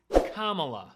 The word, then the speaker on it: Kamala: Republicans who will intentionally try to say her name wrong it's Kamala as in vice president Kamala Harris soon to